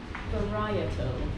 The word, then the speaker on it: varietal: You've got 4 syllables. Varietal. Where is that? Varietal. Where's the stress? Yeah, in the second.